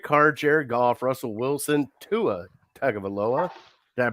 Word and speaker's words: Tua Tagovailoa: And then you got Derek Carr, Jared Goff, Russell Wilson, Tua Tagovailoa. Did I pronounce that right?